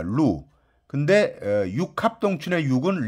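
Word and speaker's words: 鹿: 뭐 설사 발음이 좀 틀리긴 하지만 왜냐하면 녹은 이제 사슴 녹자는 루입니다. 루.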